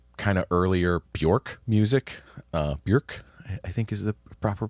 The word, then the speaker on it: Björk: Björk, I think is the proper pronunciation, Björk.